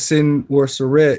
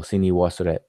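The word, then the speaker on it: Senwosret: They spell it and pronounce it Sin Worseret, but it's Z Ni Worseret, which means the man of the powerful one. So Sini Worseret.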